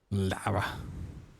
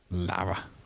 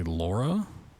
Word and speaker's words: Lara: Lara. Funny thing is, I just try to pronounce it the way they do in the games. I find it funny. Lara. But people think I say Laura, which I don't know.